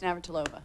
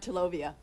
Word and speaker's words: Navratilova: does she pronounce it? No, it's Navratilova. What I kind of did you went say? Navratilova.